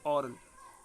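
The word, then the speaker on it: aural: ये एग्जाम्पल आया है, ओरल और ओरल, अपन उसको ऑरल बोलते हैं, लेकिन दोनों सेम तरीके से बोला जाता है, ऑरल।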